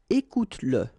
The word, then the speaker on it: écoute-le: Écoute-le, okay, écoute-le. So here you pronounce it.